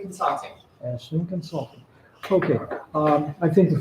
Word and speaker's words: Aislinn: to Rita McMahon, who is, again, you can pronounce the name of your company, so I don't butcher it. It's Aislinn Consulting. Aislinn Consulting.